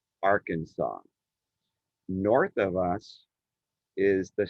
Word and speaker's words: Arkansas: like to students like arc r kansas but the s is silent in arkansas so if you take